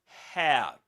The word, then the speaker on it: hair: And guys, if you speak Spanish, the two last words are difficult. I mean, the initial sound in the last two words is difficult to pronounce. Hair. Hair. Because in Spanish there's another sound that um which which is which which is not found in English which is not in English you know can't be